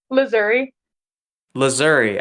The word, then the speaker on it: Lazzuri: wait what is it laouri laouri I thought you just straight up said lizard my bad no people think I say Missouri it's a it's the same pronunciation of like Missouri just with a now